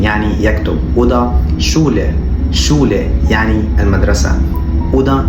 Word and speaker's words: Schule: المقطع اللي معانا بعد كده مقطع ال SCH وده بيتنطق ش zum Beispiel schreiben يعني يكتب، وده Schule يعني المدرسة، وده schön يعني جميل.